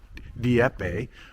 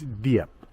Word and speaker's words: Dieppe: I always want to go DPE or DIPE or Dewee or something, but it's Dup. They just don't pronounce that last E.